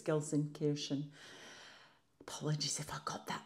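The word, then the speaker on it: Gelsenkirchen: how you say it I've heard Gilson kkin and Gilson Kiren but I think it's Gilson Kiren apologies if I got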